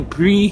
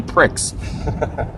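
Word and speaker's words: Prix: So, I know that to them that's the I'm going to pronounce it wrong. Family pre family pre store. Family pre. But it says family p r i x. And I'm English, so that store is called family pricks.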